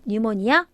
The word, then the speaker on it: pneumonia: pneumonia, 폐렴인데 얘도 안 써요. 얘 피가 발음 안 나요. pneumonia 안 써요.